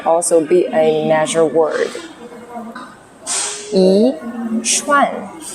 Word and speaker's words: 一串: to sound more natural, you need to shift the tone of 一, which means 1, into second tone. 一串. 一串.